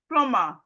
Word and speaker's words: plumber: So as we can see, whenever we see M and B in a word, the B is silent.